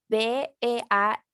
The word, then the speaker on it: beard: And the pronunciation is beard. Beard. D. Okay, the D is very important.